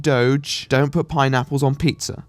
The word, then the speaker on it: Doge: few years before like Doge which I'm not gonna call dodge dodge I think that's frankly disgraceful thank you pronounce it Doge don't put pineapples on